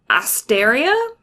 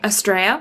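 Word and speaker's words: Astrea: So then episode 20 is Wilhelm von Asteria. Mm-hmm. Estrella.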